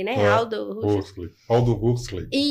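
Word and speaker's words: Huxley: O livro, quem quiser leia esse livro, Admirável Mundo Novo do Hushley, né? Aldo Rus. Hley. Aldo Rusley. Isso. Obrigada pela pronúncia.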